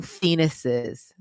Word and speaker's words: phoenixes: We are fellow phoenixes. That's how you pronounce the plural of that word, phoenix. I had to look it up. We are fellow phoenixes. It's literally pronounced like the male body part.